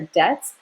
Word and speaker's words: debts: Some people became slaves because they owed money and couldn't pay their debts. Notice that this B is silent. We don't pronounce it.